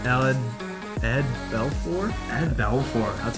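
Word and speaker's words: Belfour: here we got ellen ed belfort i had belfort that's how you say it right yeah yeah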